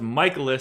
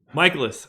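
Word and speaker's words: Mikolas: the cards Trevor Williams going for Pittsburgh Myles michaelis because now I know how to say his name going for st. Louis michaelis 17% projected ownership batten down the hatches everybody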